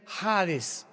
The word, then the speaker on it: Hades: tradujo la palabra seol con hades, con h, que muchos dicen jades. Se puede pronunciar así porque es en el griego.